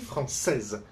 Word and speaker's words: française: When it's for women, chinoise, we pronounce the final S when we don't pronounce the final I. The same. Je suis français, je suis française.